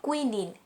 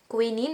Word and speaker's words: quinine: So the bark of the cinchona tree is used to make quinine or quinine. Both pronunciation is correct. Quinine or quinine, a medicine that treats the disease malaria.